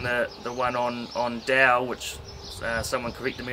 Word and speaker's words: Dao: um whilst reading the the one on on dao which uh someone corrected me on the last youtube video yesterday the pronunciation of that is dao and reading the the way of of the